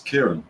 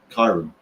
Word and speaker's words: Kieran: No, they didn't put an E in his name. It's Kieran, not Kiran.